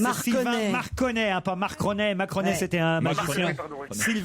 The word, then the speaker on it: Marconnet: C'est Marc Cornet. Et alors, vous ne prononciez pas très bien, c'est Marconnet. Sylvain Marconnet, hein, pas Marconnet.